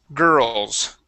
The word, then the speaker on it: girls: to girls girls yeah so even though there is an IR there we would not say girls it is girl girls girls excellent yep just like